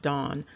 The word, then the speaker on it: Dan: that is related to the name Dan, but it's pronounced Don.